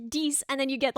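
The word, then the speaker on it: dix: Dicks. But then it's not pronounced that way.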